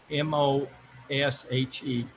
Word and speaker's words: Moshe: christ mosh building christ uh how do you spell that first name m-o-s-h-e okay so it's like moshe almost yeah german